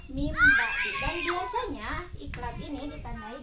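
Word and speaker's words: مِنْ بَعْدِ: Contohnya, min ba'di. Nah, dibacanya bukan min ba'di, tetapi dia dileburkan ke huruf ba, jadi dibacanya mim ba'di.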